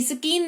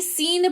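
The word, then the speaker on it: scene: सीन पढ़ते हैं, सीन, SCEN, स्कीन नहीं सीन पढ़ते हैं, जिसका मतलब होता है दृश्य।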